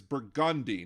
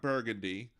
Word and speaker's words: Burgundy: Avenue and Orleans Parish the street is burgundi not burgundy I don't know so